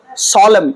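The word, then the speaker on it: solemn: on certain সলেম অকেশজন উচ্চারণটা সলেম কি বললাম আবার বলব জোরে সবাই সলেম একটা গুরুত্বপূর্ণ অনুষ্ঠানে সলেম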